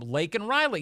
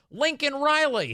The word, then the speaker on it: Laken Riley: Say her name, Laken Riley. He said, I can say her name. Her name's Lincoln Riley.